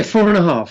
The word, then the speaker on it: 4 ½: like H how is it meant to be pronounced yeah four and a half four and a half okay yeah now now